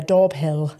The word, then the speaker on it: Daubhill: I thought it was called Dobé. No, it's not Doorbé and it's spelled Doorbill. Um, but no, we should call it Dolbé actually. But yeah, Dorbill is where I originate from.